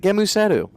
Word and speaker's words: Gēmusetto: It's Gēmusetto. just say call it Gēmusetto.